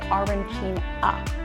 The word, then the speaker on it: arancina: And if you're on the western side, Palermo, they're going to say arancina with an A.